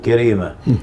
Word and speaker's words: كريمة: كرب سكنوا الصعيد الأعلى، ومن هنا كانت النسبة اللي هي أبو كريمة، لكن نحن في المدن يعني خففوا النطق قالوا كريمة، فأنا اسمي أحمد محمود عبد الله كريمة.